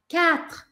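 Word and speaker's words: quatre: Só que esse U aí do meio não é pronunciado em francês. Eu preciso falar 4, 4, 4. Eu não vou falar U, tá?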